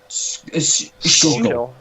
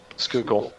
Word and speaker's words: Schuylkill: Schuylkill. Schuylkill. Skookle. Google. Okay, in Schuylkill. Squish, squish, squish, squish, squish, squish, squish. Schuylkill, Oh, my frog broke.